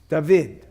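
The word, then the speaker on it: דָּוִד: Carlton what's underneath you safe yeah okay it's pronounced is it duh yes yes yes vid dahveed okay da vid is the name David okay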